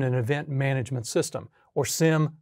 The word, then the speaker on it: SIEM: The security information and event management system or SIEM. Some people pronounce it “seam”, you can choose to pronounce it however you like.